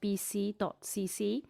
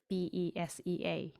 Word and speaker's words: BESEA: ever pilot episode of BC.cc. I actually didn't know how to pronounce BESEA, so it's good to know it's BC. I didn't know if it was BESEA or something.